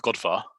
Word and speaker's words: Gurdwara: It is often served at, well, it's always served at Godvar, which is Gurdwara or Sikh temple for anyone who learnt it in religious studies back in school. It's pronounced Godvar though.